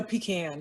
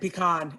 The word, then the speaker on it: pecan: you are what are the four ways to pronounce it i only know pecan and pecan and pecan that's it okay pecan pecan pecan pecan and all are considered correct there is no correct pronunciation they're all correct khan is more correct